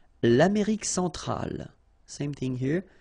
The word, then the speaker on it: centrale: L'Amérique centrale. Same thing here. Centrale, remember, E-N nasal, so it goes in your nose.